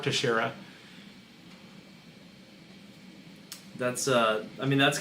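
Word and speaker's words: Teixeira: first talked about him, I butchered his last name. I think I called him like Tech Sierra, and the guy that I was doing the show with looked at me like, "What's wrong with you?" That's how I read it. Right. Well, that is how phonetically it's read, but it is Mark Terara.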